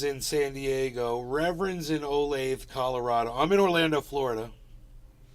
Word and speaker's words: Olathe: Reverend's in Olathe, Colorado. I'm in Orlando, Florida. And pronounced the same as Olathe, Kansas.